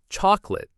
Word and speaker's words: chocolate: Another one is chocolate. It looks like it should have 3 parts, cha-co-late. But we stress the first part, chalk. The middle O disappears. It gets swallowed by the schwa. We say chocolate. 2 syllables, not 3. Chocolate.